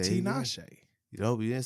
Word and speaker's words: Tinashe: get out of here, big shout out to Tinashe. That's how she said it. Nah, not me. Shout out to the West Coast once What'd you again. I just know say? Tinashe.